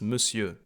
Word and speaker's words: Monsieur: Guys, if you ever pronounce this, the R is silent. It's Monsieur. You never say the R.